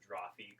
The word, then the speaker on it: Drawfee: yeah, there's a lot of Drawfee stuff on Dropout because College Humor used to own it. Yeah. And that's How do you spell it? Drawfee? Draw, F-E-E. It's like coffee and draw put together.